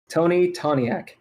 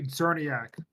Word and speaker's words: Czerniak: Tony Toniak. It's Tony Czerniak. You'll see when I spell it. Czerniak. CZNER, or it's CZERNIAK. Get it right.